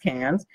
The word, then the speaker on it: Cannes: interesting the Cannes Film Festival I believe it's pronounced Cannes has Netflix thinking about buying theatres this is